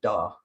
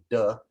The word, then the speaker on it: duh: It's spelled here D-U-H, which looks like da, but it sounds a bit more like duh, more than da.